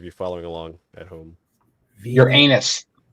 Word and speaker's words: Uranus: following along at home your anus yes Uranus is that's the wrong way to say it sir that's not how